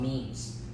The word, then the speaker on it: meme: a video just on memes right and mean it's not a funny picture that somebody put some caption I mean written rhymes with gene for a reason and